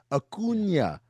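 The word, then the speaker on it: Acuña: I know Ronald Akuna from Bryce Harper talking to fans about how to pronounce it correctly. Akuna. Akuna.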